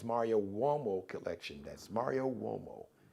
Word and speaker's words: Uomo: That's Mario Uomo. It's an Italian surname. So Mario, M-A-R-I-O. Uomo is spelled with a U. It's got the W sound, like the W-O, W sound, but it's U-O-M-O.